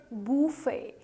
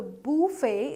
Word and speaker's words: buffet: It's actually a French word which is pronounced as buffet, right? So buffet is the correct pronunciation.